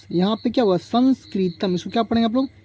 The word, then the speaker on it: संस्कृत: इसके चलिए एक और वड लिखते हमलो क्या संस्कृत पढ़ लिखते संस्कृत संस्कृत ठीक है संस्कृत अब यहां पर देखिए य प सं यहां पर क्या हुआ संस्कृत इसको क्या पढ़ेंगे आप लोग संस्क तम संस्कृत